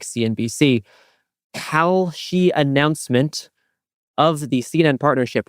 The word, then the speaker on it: Kalshi: See, I used to call it Kalish. This is the problem. I think it's Kalshi. I think Kalshi is correct.